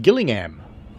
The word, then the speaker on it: Gillingham: rail Mark B says don't pronounce the h so it's just Gillingham fair enough then so